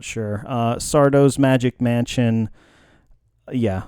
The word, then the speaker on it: Sardo: No, mister. Accent on the dough.